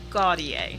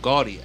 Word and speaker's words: Gauthier: it right too say it one more time guardian guardian guardian gaudier yo i've been dude i've been hammering that